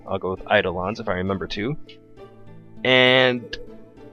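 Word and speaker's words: Eidolon: her to summon her eidelons or edelen's which other pronunciation you'd like to go with I'll go with eidelons if I remember to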